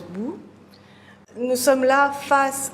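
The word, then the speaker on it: 不: et non ne pas c'est l'interdiction en chinois et ça se prononce bout nous sommes là face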